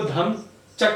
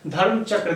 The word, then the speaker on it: धर्मचक्र: इसलिए इसको धम्मचक्र से भी बोला जाता है, चक्र से, धर्म चक्र से भी बोला जाता है। माफ कीजिए, थोड़ा सा गलत प्रोनाउंसिएशन हो गया, धर्म चक्र कहा जाता है, ठीक है।